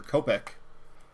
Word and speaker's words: Kopech: Chris Sale, Nick Senzel, Josh Donaldson, and Michael Kopech, or Kopech. I heard somebody pronounce it Kopech the other day, so I'm going to copy off of him.